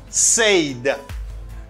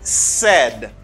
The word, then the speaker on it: said: the verb to say some people say sayed no it's not said it's said they say said you